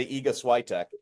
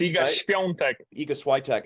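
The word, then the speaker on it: Świątek: you say her name anybody else in the world would say EK no it's ech eek actually as as I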